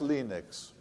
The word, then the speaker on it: Linux: nina's two evolves and i pronounced linux as linux linux eventually left helsinki